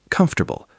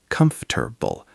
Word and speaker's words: comfortable: Comfortable, pronounced comfortable, not comfortable.